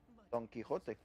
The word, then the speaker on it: Don Quixote: So great treasures and stories in Spain will be their big written books, like Don Quixote. Is that how you say it?